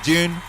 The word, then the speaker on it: Dune: mean to you uh i say june because i believe that's how uh the author pronounced it um i don't know and i'm in american they say dune here uh you know back in the day the way i pronounced dune would be with a white dune dune although it seems like an unnecessary uh syllable is that a syllable deun i feel that turns it into a two-syllable word adding the why